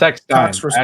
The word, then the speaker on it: Eckstein: I hope I'm pronouncing her name right. It's Eckstein.